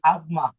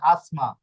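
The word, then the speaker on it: asma: আজমা একটা রোগের নাম এখানে যদি আমরা ইংরেজি উচ্চারণ করি তাহলে হয়ে যাবে আসমা আসমা হয়ে যাবে এইযে দেখুন এস এ এস এ এম এ আসমা ইংরেজি উচ্চারণ কিন্তু শব্দটা হবে আজমা ওকে শব্দটা হবে আজমা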